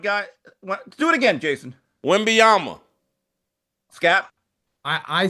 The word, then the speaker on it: Wembanyama: It has been resurrected by Victor Wembanyama.